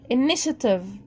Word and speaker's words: initiative: initiative. TIE شه، فأنا قلت initiative.